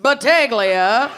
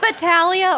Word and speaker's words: Battaglia: So I looked this up. Because I know a Battaglia. Supposed to be pronounced that way. That would be the proper Italian pronunciation. But yeah, the family uses Chicago never met a G they didn't want to the pronounce. bastardized Battaglia. They don't do the silent G.